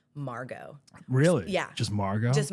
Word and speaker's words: Margaux: She Margaux. was like, how do The we? X is silent.